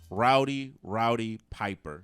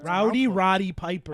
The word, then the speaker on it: Roddy Piper: Rowdy Piper. That's it. Roddy Piper.